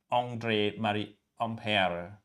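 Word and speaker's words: André-Marie Ampère: la okay and that's the correct way to pronounce uh the words uh this the name by famous uh french physicist uh andrei mari ompel okay yeah empire is the person who observed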